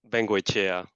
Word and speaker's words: Vengoechea: So, but your last name is pronounced similarly. Vengoechea. Chea, and it's Koombea. Okay, so The E, yeah, the E sounds in the same way, like an E.